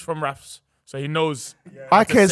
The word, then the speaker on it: IKEA: IKEA. I just learned that. You just told me. Obviously, he's from Rafs, so he knows. IKEA is say Swedish. IKEA properly.